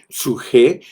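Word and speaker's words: psyche: El suje, que se escribe P-S-U-J-E, suje, que es la parte psicológica del hombre, y es la palabra vida para hablar de la vida del alma.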